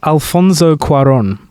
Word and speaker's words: Alfonso Cuarón: Up next, we have Alfonso Cuarón. I actually did a good pronunciation. That was good. Yeah, that's nice. Little accent on there.